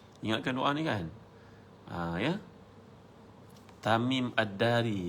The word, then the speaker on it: Tamim ad-Dari: Tamim ad-Dari, bukan Tamim Mantari, Tamim ad-Dari, betul kan?